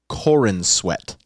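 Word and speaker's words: Corenswet: Legacy so we got David cornat God I'm so sorry if I butchered your name I'm soorry no no you got it exactly correct his name is Corin sweat what a bad life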